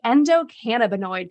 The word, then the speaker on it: endocannabinoid: a few of the words did I say endocannabinoid correctly you did I you know you can